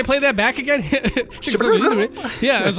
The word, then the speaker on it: Itoi: Shigesato Itoi. Yeah, I was like, oh, all right. I was pronouncing it wrong the whole time, I guess.